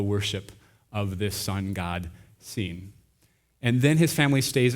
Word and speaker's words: Sin: I think think it's the son god scene spelled like sin s i n so